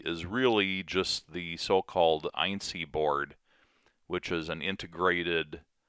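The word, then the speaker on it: EINSY: But the electronics assembly is really just the so-called INC board, which is an integrated power controller that controls the power to the hot end and the heat bed.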